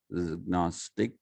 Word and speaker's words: Gnostic: in the Greek period, I will pronounce it as the Greeks did. Gnostic, since he was agnostic, he also had a bone to pick with Socrates.